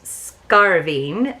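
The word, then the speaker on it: scairbhín: It says, pronounce scarving, and also talk of the cuckoo bird.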